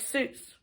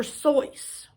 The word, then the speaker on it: Seuss: it so it says seuss is supposed to rhyme with voice so it must be source not goose like seuss the doctor never minded that people mispronounced it so his actual dr soyuz his real name theodore